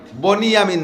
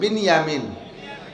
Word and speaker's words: বিনিয়ামিন: ভাই ইউসুফ আর বিনিয়ামিন বনি ইয়ামিন না একটু উচ্চারণ শিখেন বিনিয়ামিন শব্দটা কি কন তো বিনিয়ামিন আর বনিয়ামিন কেউ নাম